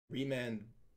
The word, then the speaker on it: Remand: Remand rhymes with land, so I'm gonna look at this in a positive light.